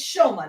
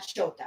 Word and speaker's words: Shoma: Oh, and it's Shoma, not Shota.